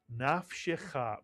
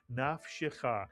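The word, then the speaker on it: נַפְשְׁךָ: The first syllable would be pronounced naf, mitsuyan. And the second syllable would be pronounced shecha, mitsuyan, shecha. Put the word together, nafshecha, mitsuyan, nafshecha.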